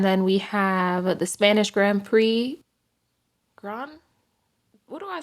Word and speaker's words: Grand Prix: I'm going to be pronouncing it the Grand Prix.